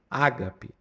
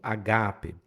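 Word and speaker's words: ἀγάπη: Então fala ágape, mas não é essa pronúncia correta, não é pronunciado o o espírito ali e a tônica é no gá, então agape.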